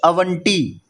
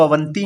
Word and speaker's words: अवंती: अब इसको पढ़ के देखो, कुछ अवंटी, अवंटी, अंटी जैसी कुछ आ रही है ना प्रोनाउंसिएशन। इसमें साउंड कैसी आ रही है? अवंटी, अंटी जैसी साउंड आ रही है, अवंटी। बोलते तो इसको अवंती हैं।